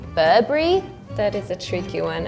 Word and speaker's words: Burberry: In usual conversation, people would say Burberry, like or Burber, like without the really big last letter.